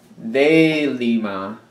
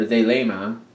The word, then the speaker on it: Thelema: For the main part of the read, I'm using the Thelema, or Thelema, depending on which way you want to pronounce it.